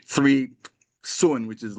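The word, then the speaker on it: cun: the location is called sunun it's spelled c u n but pronounced kind of sun in Chinese three sun below your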